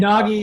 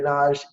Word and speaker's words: Nagy: And Nagy is pronounced Nagy in the US and Naj everywhere else. So Andre Nagy, Andre Naj, amazing man.